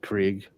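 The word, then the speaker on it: Krige: correct Fortress of solitudes Brent k-r-i-g-e Krieg yeah it's a Craig Craig okay yeah great absolutely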